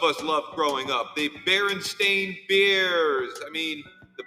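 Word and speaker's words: Berenstain: love growing up the baren stain beers I mean the baron stein bears it's actually the baron stain bears as though you have a stain on your pants I never once pronounced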